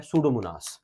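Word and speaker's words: Pseudomonas: मनास क्या एग्जांपल है सूडो मनास P silent है सूडो मनास सेकंड ग्रुप पे आ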